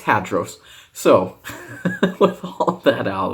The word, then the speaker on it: Hadros: say that real quick not hadros although in the greek it does have a little anyways it's it does have a little um accent on the on the oh anyways it's hadros so with all that